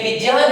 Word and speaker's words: विज्ञान: क्योंकि ये ज्ञ है जो किससे बना है, यन से बना है। किससे बना है, यन से। तो इसके उच्चारण में भी हमारा कैसा होना चाहिए, किस प्रकार से होना है। हम रोज कहते विज्ञान, विज्ञान, विज्ञान, विज्ञान नहीं, विज्ञान। क्या होगा, विज्ञान।